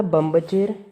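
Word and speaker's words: बंभचेर: Second word था बम्बचेर, इसमें next word क्या है, भ। अब ये जो भ है ये किस वर्ग का है, पवर्ग का है। प वर्ग का जो लास्ट अक्षर है वो म साउंड कर, म है, तो इसलिए हमने यहाँ पर म साउंड किया, बम्बचेर, ठीक है।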